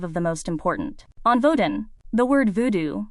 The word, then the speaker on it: Vodun: On Vodun, the word voodoo, spelt with 2 O's, is a Hollywood invention.